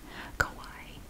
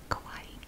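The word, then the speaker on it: Kauai: it more than once okay i looked it up i'm going to pronounce it the way i was told to pronounce it by youtube somebody on there kawaii kawaii is the oldest of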